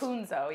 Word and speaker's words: Punzo: my name so so punzo is that how it's pronounced punzo yes I feel like punzo